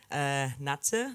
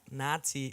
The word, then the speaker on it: Natze: friends, everyone calls me Natze. Yeah. But it's a little bit difficult because I played in Australia, and then I played in America, and if you pronounce it, it calls like Nazi, and I was like,